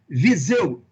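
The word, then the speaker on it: Viseu: is that proper pronunciation visual obeso ah the the right pronunciation is visual zoo this zoo because it is a city of portugal where my uh great grandparents came from okay but you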